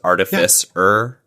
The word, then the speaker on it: artificer: like the root of the word is like artifice so it's artificer right so why would